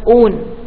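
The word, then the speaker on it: -one: or own we say it's not one it is pronounced as own now what is the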